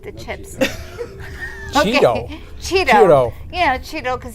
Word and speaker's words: Ciro: Cheeto. Yeah, that's how it's pronounced in Italian, right?